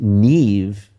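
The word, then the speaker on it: Niamh: We were really thinking of the Irish name Neve, and the only problem is that Neve, the Irish spell it because they love to do this.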